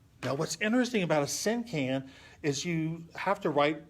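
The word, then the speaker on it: cinquain: a syn can now what's interesting about a sin can is you have to write you have to know what syllables are and syllables are kind of like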